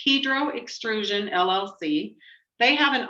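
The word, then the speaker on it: Hydro: he could not come hedro is how it's pronounced hedro extrusion llc they have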